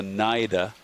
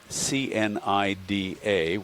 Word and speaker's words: cnida: cells the feature is called the nida um cnida which the c is silent again and there's a tripod